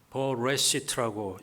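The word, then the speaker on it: בראשית: 히브리어로는 버레시트라고 읽습니다.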